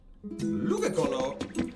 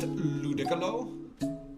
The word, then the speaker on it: Ludicolo: Ludakolo. Cold's out here inventing new Pokemon. Uh Cold, it's pronounced Ludicolo.